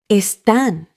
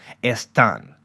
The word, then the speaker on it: están: Están. Your turn. Repeat after Lucia and punch that last syllable, están.